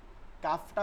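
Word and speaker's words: ك: আসবে কফ কাফ কাফ কাফটা হচ্ছে জিহ্বার গোড়া থেকে একটু আগে বাড়া এরপর আলোতে একদম নরম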